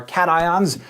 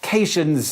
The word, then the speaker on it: cations: a positive charge are cat ions whereas ones that gain electrons to become negative are anions you'll notice despite the rules of English that these are pronounced cations and anions not patient's and anyons the most basic ions